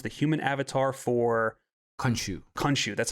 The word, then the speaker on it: Khonshu: Khonshu, that's how you say it, okay.